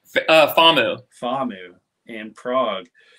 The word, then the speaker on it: FAMU: So all the hands-on stuff seems like it came on from, how do you say it, FOMU? FAMU.